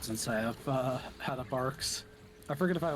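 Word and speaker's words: Barq's: That I've never had. It's bark. Like what's on a tree.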